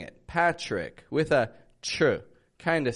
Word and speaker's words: Patrick: The T is not pronounced like a regular T. It comes out more like a ch. So when I'm here in Mexico and I say my name is Patrick, to me it feels kind of forced.